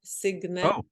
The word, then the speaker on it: Signe: actually with a hard G, Signe.